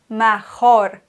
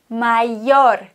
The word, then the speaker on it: mayor: Muchos estudiantes dicen mejor, pero es falso. Wir haben hier ein Y. Und Y wird gleich ausgesprochen wie Doppel-L, also wie ein J. Entonces se dice mayor, mayor, mayor.